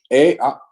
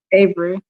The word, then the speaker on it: Avery: Jumping over here to Ave. I think I'm pronouncing that wrong. Avery. Avery.